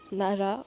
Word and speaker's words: Nara: c'est vraiment joli Nara Nara je vis le prononcer à la japonaise les r se prononcent entre le L et le r je vais chercher un